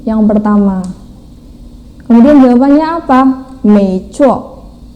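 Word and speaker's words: 没错: Sedangkan yang B, maksudnya yang kedua, contoh yang kedua, 没错, 没错, 没, nada 2 naik ya, kemudian 错 nada 4 dihentak, 没错, 没错. Pelafalannya seperti itu.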